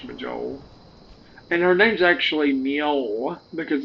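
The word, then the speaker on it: Mjoll: And her name's actually Mio because it's the J is pronounced like a a Y, but I've always called her Majel.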